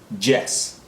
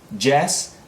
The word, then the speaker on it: Jess: again yes yes and Jess Jess as in the name Jess okay next would be